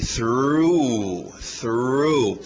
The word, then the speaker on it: through: TH de sapo, aquele R forte, through.